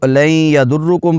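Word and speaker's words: لن يضركم: کا درست تلفظ ہے۔ یہاں پر نون کو یا میں ملا دیا گیا ہے، حروف یرملون ہے، تو یہاں پر ادغام میں یرملون والا قاعدہ، یہاں پر غنہ کریں گے، لن یضر، را پر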